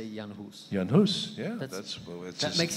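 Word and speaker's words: Jan Hus: your check now because Americans say Jonah Hoss you say yawn who's Janos yeah that's what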